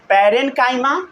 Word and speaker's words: parenchyma: पढ़ना पहले सीखिए, प्रोनाउंसिएशन करना सीखिए। पैरेन्काइमा, साथ साथ बोलिए पैरेन्काइमा, पैरेन्काइमा, फिर बोलिए कोलेनकाइमा, कोलेनकाइमा, फिर बोलिए स्क्लेरेनकाइमा, स्क्लेरेनकाइमा, स्क्लेरेनकाइमा, समझ गए।